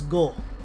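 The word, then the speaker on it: 五: his name in Japanese the number five is pronounced as go iiaba could be his first name of Ishikawa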